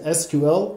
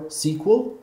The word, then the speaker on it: SQL: SQL stands for Structured Query Language, and it can be pronounced either as SQL or SQL, doesn't matter.